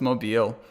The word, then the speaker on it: Mobile: Is that how you say it? I'm like, no, it's Mobile.